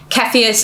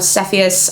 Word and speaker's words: Cepheus: So her parents are the king and queen, Cepheus, again, or Cepheus, I've heard it pronounced a bunch of different ways.